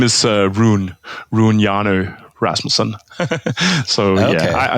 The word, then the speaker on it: Rune Hjarnø Rasmussen: My name is Rune Hjarnø Rasmussen. So okay. yeah, you mostly just pronounce my name in English because makes more sense like that.